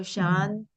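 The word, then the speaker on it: शान्ति: Yeah, because of the Sandhi rules, the ending word only gets the Visarga, right? Right. So Shanti, Shanti, Shanti is how it has to be correctly pronounced, correctly said.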